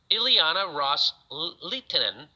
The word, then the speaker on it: Ileana Ros-Lehtinen: Qataris unni's Arab states have made to Representative Ileana ros-lehtinen that's how you say her name quote with